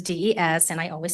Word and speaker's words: Des: My name is not Dez as in deez. It is dees and I always spell it that way.